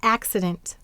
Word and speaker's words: accident: is dent this mmm now in accident why did this see say here because it's before a consonant and C softens to only before an e I or why why did it